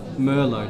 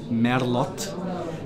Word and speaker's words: Merlot: So here we have Merlot. Now be careful, because in Czech the pronunciation is Merlot, but in international language we would say Merlot.